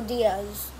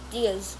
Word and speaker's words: Dias: Ruben Dias or Diaz? Dias. Dias.